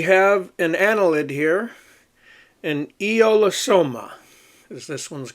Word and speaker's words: Aeolosoma: And uh e eolosoma, that's how you pronounce that. Eolosoma.